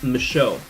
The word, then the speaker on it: Michaud: It's Michaud. So kind of like myth, and then show like, you know, TV show. The D is silent.